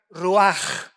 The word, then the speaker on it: ruach: se tradujo para vientos es la palabra hebrea ruach con ch al final que se pronuncia roag que se traduce espíritu